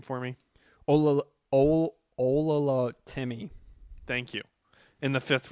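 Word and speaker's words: Oluwatimi: Yeah, pronounce his last name for me. Olatimmy.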